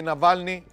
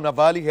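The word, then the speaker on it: Навальный: اتهم أليكسي نافالني أو نافالي، هي بتتنطق بالاثنين يعني، بالتخطيط لسرقة 16 مليون روبل من شركة أخشاب مملوكة للدولة أثناء عمله كمستشار لحاكم منطقة كيروف سنة 2009.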